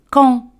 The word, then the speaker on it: quand: Se dice quand. Quand, de al final no se pronuncia.